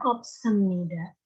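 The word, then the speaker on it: 없습니다: Nah, ini kan ada bacim nih, ini bacim rangkap nih ya, Robot. Dibacanya opsemnida.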